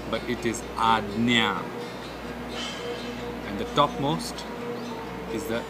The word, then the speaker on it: Ajna: Sixth, Ajna. Ajna. I've heard a lot of people saying Ajna. The J is not literally to be pronounced as J, but it is Ajna.